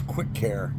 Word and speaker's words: Kwikkar: things that you need for your car it's Quick Care k w k k a r I believe that's how it's spelled we have one over here by three